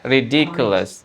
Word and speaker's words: ridiculous: Ya, kalau yang lain kan ridiculous di T-nya. Tapi misalnya juga di D-nya juga agak dibunyi juga dikit. Ridiculous.